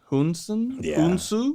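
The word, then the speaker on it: Hounsou: uh the man who we name we can't pronounce um even his last name is hard hunsun yeah h-o-u-n-s-o-u yeah no so there and man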